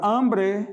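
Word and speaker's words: hambre: a dois a palavra ambrear significa fome a fome no português do espanhol feminino também ok a tônica aí é a primeira sílaba ambre veja começou com H então não vou dizer Oi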